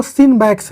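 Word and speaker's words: CINBAX: ध्यान रखें इसकी जो प्रोनाउंसिएशन है वो सिनबैक्स है। एक हम लोग सिमबैक्स भी करते हैं, सिमबैक्स हम लोग करते हैं सिंगापुर के साथ, इसको ध्यान रखें। ये सिनबैक्स है, C से स्टार्ट होता है।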